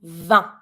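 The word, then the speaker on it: vingt: and then 20 20 careful this one is tricky too you're going to be saying V so in this one the t is mute the G is mute V you're going to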